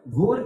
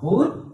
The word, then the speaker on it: Bhur: So the next line, Bhur, must pronounce the word Bhur with that H sound. Bhur, Bhuva, Subaha, Subaha.